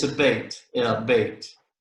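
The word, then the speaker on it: בית: then okay yeah so it's pronounced like the bait like you fish with hey what about this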